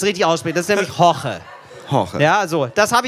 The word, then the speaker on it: Jorge: Das ist nämlich Horche. Horche. Ja, so. Das habe ich okay ausgesprochen.